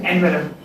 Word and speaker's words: envelope: The word envelope is pronounced in that way. We pronounce it envelope, but it's envelope.